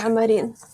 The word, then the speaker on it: Amarin: Am I pronouncing your surname correctly? Yes, it's Amarin.